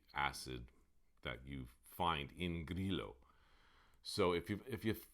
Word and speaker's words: Grillo: we might pronounce it guerrilla but it's not grillo doesn't rhyme with brillo it's grilo and the two l's don't form a y either which is what i